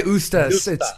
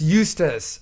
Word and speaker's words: Eustace: I would say Ustas. It's Eustace. Sorry. Love you, Andy.